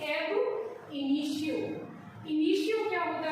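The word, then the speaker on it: ab initio: इसको बोलेंगे हम, इसका प्रोनाउंसिएशन जो है आप बोलने का तरीका है उसका जरूर जो है एम्फेसिस दें, उस पर ध्यान दें कि इसे हम बोलते हैं एब इनिशियो।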